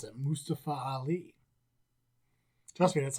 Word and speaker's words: Mustafa Ali: with uh mustafa because apparently that's how you pronounce it mustafa ali trust me that's how you pronounce it not mustapha nope it's not mustafa it's mustafa which i